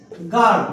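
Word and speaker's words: guard: कि एक स्पेलिंग लिखी जी यू ए आर डी गार्ड बोलते हैं मालूम होगा सबको बोतल गार्ड सुना ये गार्ड है जो सिक्योरिटी गार्ड भी होता है गार्ड जहां पर गार्ड आया मतलब यहां पर आपने यू बिलकुल नहीं बोला है लेकिन स्पेलिंग में तो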